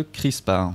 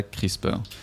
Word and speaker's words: CRISPR: entend beaucoup parler de crispar je vous préviens tout de suite que moi je prononce crisp et pas crisper crispar CR r i